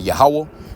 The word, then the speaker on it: Yahweh: No, you got to be pronouncing the name of the Lord the correct way, man. Yahweh, why Yahweh Shai.